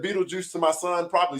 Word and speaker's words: Beetlejuice: I don't even know what it says, So just for everybody knowing it, when you read it, it is pronounced Beetlejuice.